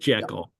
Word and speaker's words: Jekyll: know the you know the actual pronunciation is is G but um it's I mean I either work if if you want to be a purist it's GLE but but it's it's